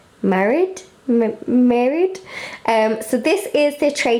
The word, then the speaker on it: Maryd: I'm going to pronounce this as Maryd.